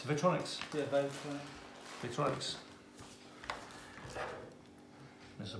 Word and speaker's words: Vytronix: How do you pronounce that? Vytronix. Vytronix.